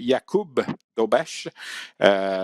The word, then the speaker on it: Dobeš: En fait, il faut prononcer Jakub Dobeš.